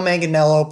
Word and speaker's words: Manganiello: the bully it was joe mangianello powder that's pronounced right yeah yeah joe manganiello played flash thompson he has currently most recently